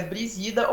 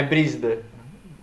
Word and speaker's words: Brísida: É porque tem uma dúvida interna que a gente tem a dúvida se é Brisida ou Brísida. É Brísida.